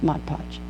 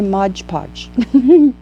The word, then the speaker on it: Mod Podge: easier and I like Mod Podge and I said it right I always say modge podge okay here we go